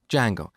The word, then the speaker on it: Django: framework called Django so it's spelled with a silent D and it's pronounced Django it's a web framework